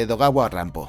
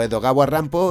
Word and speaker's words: Edogawa Rampo: Un buen ejemplo de esto sería la novela corta La oruga de Edogawa Rampo. El seudónimo Edogawa Rampo es de hecho Edgar Allan Poe pronunciado a la japonesa.